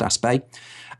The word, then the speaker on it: Aspect: a guy called Alain aspect aspect or aspect I things pronounced a spay and they prove something